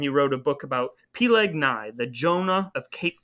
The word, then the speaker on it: Peleg: fighting because i'm sorry you you can't just say p-leg and not say how that's spelled this man's name was p-leg p-e-l-e-g oh okay i did